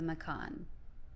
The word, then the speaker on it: Macan: The the Macan, right? Is that how you say it? Yeah. Macan. Yeah.